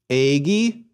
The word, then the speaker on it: egi: Egi. Nice long vowels.